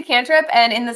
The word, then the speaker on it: cantrip: Call it canrip in. It's a cantrip.